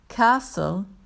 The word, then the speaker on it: castle: written with a c castle is written with an s and a silent t part six talk about